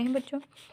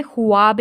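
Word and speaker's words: خواب: अब बच्चों यहाँ पर ये जो है अपना हाब सुनाओ, हमने ख्वाब नहीं कहा क्योंकि यहाँ पर वाव मदूला है, तो इसको हम नहीं पढ़ेंगे, लिखेंगे लेकिन पढ़ेंगे नहीं।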